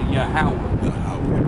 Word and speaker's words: Yahweh: God's name is Jehovah. No, it's pronounced Yahweh. There ain't no J. There's no J's in Hebrew.